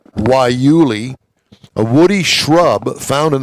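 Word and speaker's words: guayule: Prix, feature a rubber made from guyule, pronounced waiuli, a woody shrub found in the deserts of the Southwest.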